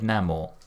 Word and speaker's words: Namor: So They did actually, but he said Namor. Right. As in Amor.